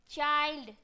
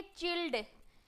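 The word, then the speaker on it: child: आई एल डी वाइल्ड अगर आप इस तरीके से पढ़ोगे अगर आपको यह चीज पता नहीं होगा गाइस कि इसे हम कैसे प्रोनाउंस करेंगे जिन बच्चों ने इन सभी रूल्स को नहीं पढ़े तो व कैसे पढ़ेंगे इसे पढ़ेंगे चिल्ड विल्ड Band fund and मिंड जो कि गलत है क्या करेंगे एम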